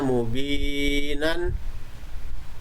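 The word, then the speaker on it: مبينا: Kemudian contoh yang lain di sini ada mubinan. Maka dibacanya menjadi mubina panjang.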